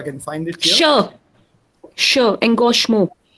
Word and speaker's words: Engagement: Engagement. Engagement. Engagement. Yeah. Let's see if I can find it here. Sure. Engagement. Je. Yeah. This is a je sound.